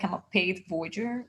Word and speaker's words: voyeur: I like your, I was looking at your galleries and I loved is it called, ho I don't know how to pronounce it, voyeur? Voyeur.